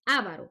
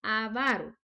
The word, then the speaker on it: avaro: hacer una capsulita ortográfica la palabra no lleva tilde y por obvias razones no es avaro porque a veces cometemos el error de pronunciarlo mal no es avaro la pronunciación correcta es avaro el avaro y luego